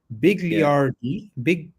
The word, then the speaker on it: Bigliardi: Stefano Bigliardi, yeah.